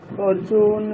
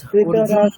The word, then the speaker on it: अर्जुन: অথ প্রথমোऽধ্যায়ः অর্জুন বিষাদযোগः। অর্জুন হবে না, ঠিক আছে, অর্জুনা।